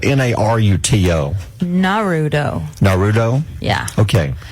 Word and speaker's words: Naruto: It's spelled Naruto. Naruto.